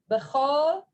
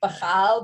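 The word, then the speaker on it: בכל: B'chol. Kadoshim, it looks like b'chal, but it's actually b'chol.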